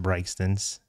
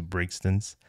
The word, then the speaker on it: Brigsten's: And it's a restaurant called Brigsten's, and it is pronounced Brigsten's as opposed to Brigsten's.